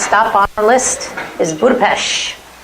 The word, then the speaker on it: Budapest: on our list is budapes is that's how they say it in Budapest and I wanted to